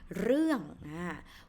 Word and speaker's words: เรื่อง: on the word เรื่อง So this word นะคะ is pronounced เรื่อง Why? Because you can see it's รอเรือ right? And then the vowel is สระเอือ So สระเอือ see 3 letters นะคะ and it's how to say complex vowel has two vowel sounds and and so เอือนะคะ therefore this word is pronounced เรื่อง with งองู ending consonant falling tone เรื่องนะคะเรื่องที่หนึ่ง This is a